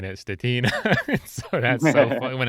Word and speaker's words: Stetina: Europe would think it's Stetina. So yeah, everyone says it that way, but it's Stetina with a silent I.